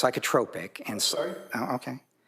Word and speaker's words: psychotropic: It's pronounced psychotropic and sorry.